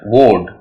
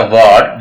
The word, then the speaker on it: ward: इट्स नॉट अ वर्ड, इट्स अ वोड। RD आ जाएगा तो हम ओ की आवाज देंगे।